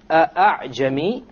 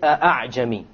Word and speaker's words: أَعْجَمِي: Now notice, أَعْجَمِي, you notice that the second hamza typically would have a dot on it. To show you, you don't pronounce it as a hamza. You don't say أَعْجَمِي. Rather, you pronounce it as follows. أَعْجَمِي. أَعْجَمِي. You don't pronounce it a full hamza, and you don't pronounce it as an alif, full alif. It is in between.